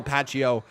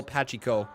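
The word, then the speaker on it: Pacheco: a c in it i always thought your name was just patchio but it's actually pachiko i've been mispronouncing your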